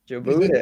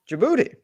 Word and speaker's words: Djibouti: Djibouti. Is that how you say it? Yeah. What's the capital? Djibouti.